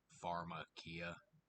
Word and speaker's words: pharmakeia: Either way, the word pharmakeia isn't spelled with an F, it's a PH. Makes the F sound. So, pharmakeia, pharmaceuticals.